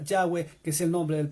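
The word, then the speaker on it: Yahweh: que es el hebreo su verdadero nombre ya fue de h w aquí está la consonante y se pronuncia ya ve que es el nombre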